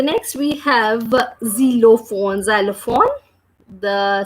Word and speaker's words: xylophone: observe here we are reading this word is zero phone so the sound of X is the 0